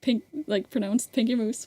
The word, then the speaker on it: Pinky Moose: If I don't know if I've ever said it in a video, but like my username Pinky Moose is pronounced Pinky Moose, which is usually American people have like struggled with that.